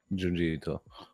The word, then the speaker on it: Junji Ito: How you pronounce his name? Junji Ito.